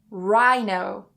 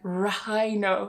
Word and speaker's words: rhino: When we have the combination of R and H together, we remove the H and we just pronounce the R sound. For example, rhino. So we don't try and say like rhino. It's really hard. So cut the H. Rhino.